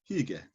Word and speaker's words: hygge: There's a Danish word, hygge, that's hard to define as pronounce.